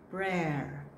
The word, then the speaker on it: prayer: You say it as prayer, prayer. Most of us say it as prayer, but prayer is a person who prays. This one is the one that we pray, prayer.